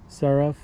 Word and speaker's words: Seraph: to replace that Scott spark is a 2021 serif I forget what the letters are but the model 78 and it's spelled s-e-r-a-p-h um it took a while to